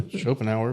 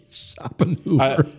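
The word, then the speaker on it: Schopenhauer: Shopenh hour, but okay. Shopping Hoover.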